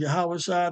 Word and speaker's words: Yahawashi: another layer of um of getting the correct pronunciation so I pray this was edifying the name of the savior is yahawashi the name of his father is yahwah uh